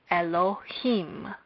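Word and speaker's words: אֱלֹהִים: Elohim is stressed first there is a stress on the last syllable of Elohim as it says on the board hence when we pronounce this we would say Elohim second let's look at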